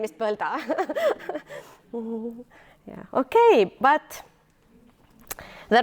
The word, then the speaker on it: Põlda: I know it's very difficult because my name is Põlda. It's not very easy to go abroad and say that, yeah, my name is Põlda.